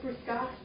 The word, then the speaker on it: Fruscato: How do you say fruscato? It's not a real word. Fruscato. Like Moscato, but with fruit at the beginning.